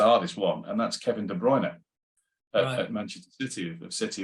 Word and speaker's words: De Bruyne: but it's the hardest one, and that's Kevin De Bruyne at Manchester City, of City in Belgium, because he will tell you himself. He pronounces his name.